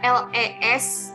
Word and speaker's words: les: ya Nah perlu diperhatikan ketika ada les yang tulisannya seperti ini ya itu dibacanya Le Eh bukan lutz yah dibacanya Lex karena kalau kita baca Nyale itu mempunyai makna lainnya tulisannya juga lain Jadi kalau ada l.s. dibacanya Le ya kemudian xepher ya Hai